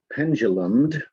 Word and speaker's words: pendulumed: Line 7, pendulumed. It's soft U there, even though it may not look like it.